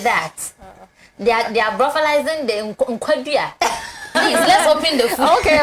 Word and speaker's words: Enquadria: Please pronounce it for me. Enquadria. Enquadria.